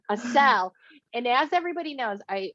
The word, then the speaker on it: Assel: i have with me a seal a seal they say it wrong that's okay so oh man a cell and as everybody knows